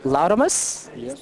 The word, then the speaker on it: Laudamus: This is Lamus. That's how you pronounce the name.